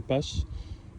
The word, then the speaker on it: Scheppach: Donc il y a ceux qui la prononcent chez PAC, mais en fait c'est une marque allemande qui a été créée depuis 1920 par un monsieur qui s'appelle chez Pasch. Ça se prononce comme ça en allemand. Et donc elle s'appelle chez Pasch et pas chez PAC.